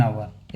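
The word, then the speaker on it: hour: Word हवर एन आवर H silent होता है इसमें।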